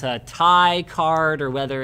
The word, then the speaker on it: Ti: I usually call it Ti as well. But that doesn't change the fact that it is correct, much like the way I say Asus is the correct way to say Asus, even though I think it should be Asus. So I'm sorry, it's Ti.